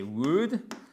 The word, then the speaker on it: would: Maintenant argue I' donc évidemment c'est would dont on ne prononce toujours pas le L.